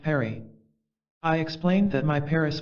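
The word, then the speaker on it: Phari: of Lassa there is a village called fagre that name being pronounced Perry I explained that my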